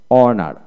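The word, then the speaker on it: honour: তারপর অনার, অনার, এইচ উচ্চারণ হবে না, যেমন আওয়ার, ও ইউ আর, আওয়ার, ঘন্টা, অনেস্ট, অনেস্ট, এখানে এইচ উচ্চারিত হবে না।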